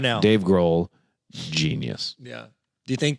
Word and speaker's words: Grohl: Dave Grohl, genius. Yeah. Do you think that's... The H is silent also in that.